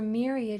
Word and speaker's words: myriad: Okay, so for myriad, it's going to make that long e sound.